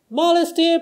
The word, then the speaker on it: modesty: Modesty propriety can lead to notoriety. はい、これちょっとね、謝罪しなきゃいけないというか、まずそもそもこの曲簡単じゃなかったなっていうのはちょっと訂正なのと、もう一つはこれカタカナで書く方がむしろ分かりづらくなるっていうパターンですね。結構大変です。ちょっといろいろ気をつけないといけないんですけど、まずね、これモレスティっていうのはですね、これ珍しいんですけど、D が日本語のラレレロっぽく聞こえるパターンもあります。ただこれ別に D でもいいです。モデスティでも全然問題ないです。ただ実際の発音はちょっとモレスティっぽいですね。modesty っていう風に、日本語のレっぽく言ってます。propriety はい、これですね。pro まず p と r の間開けません。pro